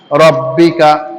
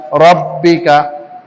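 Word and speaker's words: رَبِّكَ: ফাসাব্বিহ বিহামদি রব্বিকা, রব্বিকা, রাব্বিকা না, রব্বিকা।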